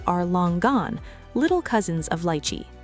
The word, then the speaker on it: lychee: Pronounce it lychee.